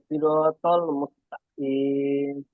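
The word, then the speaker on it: مستقيم: তারপর আছেদিনাস সিরাতাল মুস্তাকিম মুসতাকি সিরাতল মুস্তাকিম তা হবে না এটা কেমন মুখটা একটু শব্দটা একটু মোটা হবে ঠিক আছে ইহদিনা সিরাতল মুস্তাকিম বলেন মুস্তাকিম এই কপটা একটু ভিতর থেকে এরকম হবে হ্যাঁ আর কাপটা উপর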